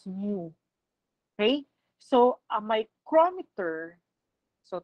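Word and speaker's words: μ: the sign for micrometer this is not letter u um this is this is um pronounced as mu okay so a micrometer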